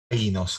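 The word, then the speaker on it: αἶνος: En realidad es ainos, con acento en la.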